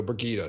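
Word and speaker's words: Birgitte: it is bergita right I used to call it Burgett for the longest time that's my old uh early uh Wheel of Time reading coming out that's what I that's how I initially pronounced her name burget so bergita sorry everybody B her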